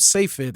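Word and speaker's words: צפת: Tzfat, the grave of Safed, I forget how you say it actually in English, but Tzfat, as we say in Hebrew, in the northern Galilee area, like that area is full of graves.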